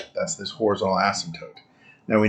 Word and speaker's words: asymptote: Asymptote. It has a silent P in there.